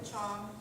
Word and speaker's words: Chiong: is at the common core again i'm chong for everything to drive the CH i 0